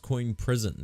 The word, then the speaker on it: CoinPrism: I think it's pronounced Coin Prison, because according to their Twitter, that's how they say it.